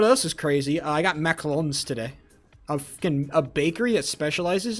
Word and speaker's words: macaron: And I think a lot of people talk about macarons, and I have to say them like that because that is the correct pronunciation.